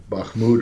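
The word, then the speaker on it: Bakhmut: battle for um uh bahmoud or or I can't am I pronouncing that incorrectly you're absolutely correct okay is uh you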